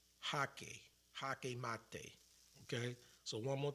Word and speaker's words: jaque: So they pronounce it as G, the J, like a H, like Jesus. Hake mate.